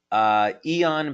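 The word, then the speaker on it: Aeon: Eon, by the way, is spelled A-E-O-N, and yes, that's a patch that you can find on our website.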